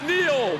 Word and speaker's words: Neil: So what we have here is Neil, which he just told me rhymes with peel.